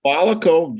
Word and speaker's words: Volico: Volico, Volico, Volico data centers.